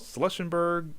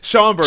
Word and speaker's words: Schaumburg: Schlussenburg, like Illinois. Schaumburg. There we go. Schaumburg. Okay. Schaumburg. I couldn't pronounce it either.